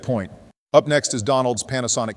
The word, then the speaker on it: Panasonic: Up next is Donald's Panasonic Q. By the way, when getting things together for this video, I realized we mistakenly called it Parasonic. So, shame on Donald for mispronouncing it.